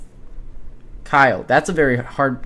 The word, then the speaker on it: Cuylle: You've got Will Kyle. Kyle. That's a very hard name to pronounce. It's spelled Cuylle. So Will Kyle, that's how you pronounce it.